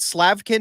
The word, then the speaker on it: Slavkin: was a book uh Steve is it slavkin is that how you say his name yes yes I believe he wrote a